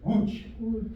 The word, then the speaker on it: Łódź: Łódź. Right? You got your w and a u, the j, łódź.